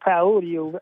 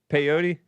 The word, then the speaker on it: peyote: He talk like somebody and strangle him half to death smoking on that pyote out there on that farm. Peyote.